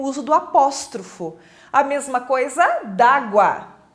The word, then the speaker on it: apóstrofo: e assim por diante o apóstrofo que a pronúncia correta é apóstrofo não é apóstrofe apóstrofe é uma figura de linguagem então o